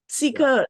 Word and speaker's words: Ceekr: Ceekr is spelled C-E-E-K-R. So it's a unusual spelling, but that's what it is. Ceekr, the S-E-E-K-R was some thousands and hundreds of thousands of dollars or something by the time.